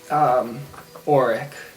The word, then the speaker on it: Auric: Are you saying Auric or Oric? Because they're very similar. Auric with a 2 syllables.